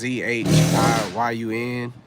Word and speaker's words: Zhiyun: It is Zhiyun.